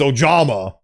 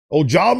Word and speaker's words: Ojama: But is that Ya as in like a Scandinavian Ya? I guess if you wanted to make me pronounce it Ya, it would have been, you would have written a Y. So it's Ja. So I'm gonna assume it's Ojama. Okay, so it's Ojama.